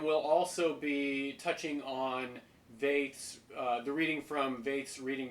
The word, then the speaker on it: Veith: And we'll also be touching on Veith's, the reading from Veith's Reading Between the Lines,